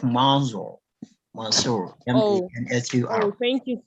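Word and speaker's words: Mansur: Please, how do I pronounce that correctly? Are you referring to me? Yes, please. Okay, Mansour, not Mansour.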